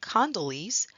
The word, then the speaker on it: condyles: of an adjacent vertebra condyles sometimes pronounced Kondylis are large rounded prominences